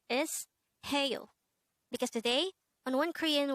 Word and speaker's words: 해요: The first syllable is he and the second syllable is yo. Pronounce it with me. HAEYO. HAEYO.